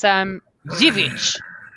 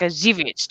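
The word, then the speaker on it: Żywiec: It's ZYW, obviously ZYWIEC, and it's Zivic. It's like the C on the end has like ch, so it's like a Zivic. And obviously the W, like my surname, is pronounced with a V.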